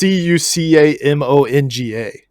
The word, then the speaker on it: Cucamonga: It's Cucamonga.